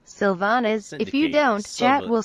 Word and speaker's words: Sylvanas: correctly pronounce sanas svan please read the following words in this order Syndicate syllabus Sylvanas symbol symptom Sylvanas synapsis sympathy Sylvanas if you don't chat